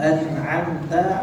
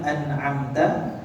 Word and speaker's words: أنعمت: ألحظ أن كلمة أنعمت Kalimat an'amta, أحيانا القارئ في قراءته السريعة maka biasanya pada seorang murid yang ketika membaca dengan bacaan yang cepat, يفتح نون أنعمت، وهذا من الخطأ بمكان.